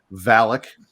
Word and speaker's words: Valak: The demon Valak, or Balak, depending on how you want to pronounce it, was released during a bombing during one of the world wars.